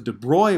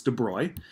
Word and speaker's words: de Broglie: discuss something called the de Broglie wavelength some people pronounce it debroglie wavelength but it's debris and we'll see there's